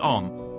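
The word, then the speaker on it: homme: a piece of bark he learned from darno that it was pronounced om and in the same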